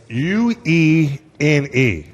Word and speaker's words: Uene: It's Uene, and we'll just for fun, you spell Uene, U-E-N-E. Mm-hmm. That's a fact. It's pronounced Uene.